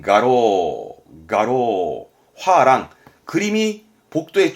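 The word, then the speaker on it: 画廊: 그래서 이 랑자는 쓸만한 게 두 개인데 하나는 이게 화랑, 발음은 가로, 화랑, 그림이 복도에 쭉 걸려져 있는 그 미술관 있죠. 미술관 화랑. 그거를 가로 한자 이거 쓰는 겁니다.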